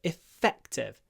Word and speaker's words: effective: c effective so you we hold the F we do a little a little pause and then effective effective it was effective not effective effective effective don't use too much voice when you pronounce this word the next one g